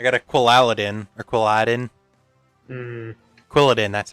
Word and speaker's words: Quilladin: Quilladin, that's how you pronounce it.